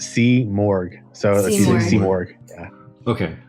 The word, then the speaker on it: Simurgh: a stuntman from the horse's mouth how's it pronounced that's a great question cuz everybody seems to not get it right it's C morgue so there's AC morgue okay okay so C